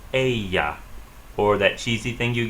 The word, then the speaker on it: ella: The double L sounds like Y in Spanish. The word she is pronounced ella.